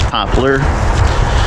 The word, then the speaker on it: poplar: I call them popple. The real pronunciation is poplar. But where I grew up, many people call it popple.